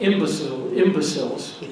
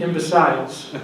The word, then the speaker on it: Imbeciles: The second example I owe to Cal, who made me aware of this book, called Imbeciles, or depending on your pronunciation, Imbeciles.